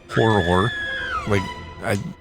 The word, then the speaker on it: horror: And also a horror book club. Horror. Horror. Yes. That's It's two like syllables. Yes. Mirror, horror.